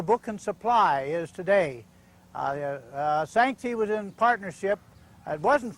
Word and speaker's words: Sanxay: Oh, here's an old familiar name, at least it's familiar to me, Sanxay. It's a hard name to pronounce, S-A-N-X-A-Y.